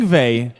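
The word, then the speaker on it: Yngve: Ingve. I don't know how you get Ingve from that spelling, but that's how it's pronounced.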